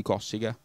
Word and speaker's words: Cossiga: preda propose cazzi di cossiga con l'accento sulla o il bigio questo e